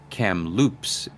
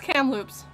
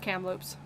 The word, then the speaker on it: Kamloops: recently hudson wisconsin wake county in north carolina chem loops british con british columbia kamloops chem loops is that not what it's called no it's kamloops oh it's cam loops okay uh sorry i'm from bc so i